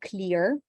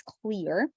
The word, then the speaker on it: clear: common mistake number four is making consonants soft as in the word clear a lot of people say clear okay it's not clear it's clear common pronunciation mistake number